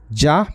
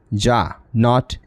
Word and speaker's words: Jean: ये JEAN लिखा हुआ है। आप में से बहुत सारे हमारे शिक्षार्थी इसे जिन भी कह सकते हैं, लेकिन ये जा है। दिस इज़ प्रोनाउंस्ड एज जा, नॉट जिन।